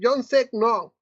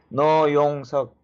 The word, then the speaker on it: No Yong-seok: Ahora sí vamos con Jonsek No. ¿Está bien pronunciado o estoy medio mal? A ver, ¿cómo se pronuncia? Muy bien, No Yong-seok. Me llamo No Yong-seok. No es apellido, Yong-seok es nombre.